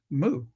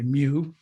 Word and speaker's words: mu: know and you know it's like moo i don't say mew say moo but everybody else says mew and you know it's